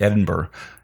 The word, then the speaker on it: Edinburgh: I think in November he's doing one in Edinburgh.